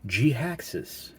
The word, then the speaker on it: Jhiaxus: and it is none other than voyager class g haxes and according to tf wiki that's how it's pronounced because the name was created by simon